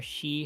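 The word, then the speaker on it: 四: chambers for pork and pronounce as yon or she however she is rarely used because sounds like the Japanese word for death oh yeah that's what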